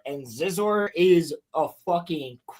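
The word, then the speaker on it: Xizor: I was just talking about Scissor. No, Zizor. So, it's spelled it's spelled X I Z O R. And Zizor is a crazy ass character from the Thrawn trilogy, dude.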